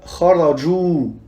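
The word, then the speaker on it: خرجوا: Donc, par exemple, avec le verbe kharaju, on rajoute le Elif, mais il ne se prononce pas.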